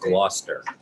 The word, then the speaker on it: Gloucester: whoíve our CEO Dara Grasso's report please it's pronounced Gloucester so Chester we will miss you I first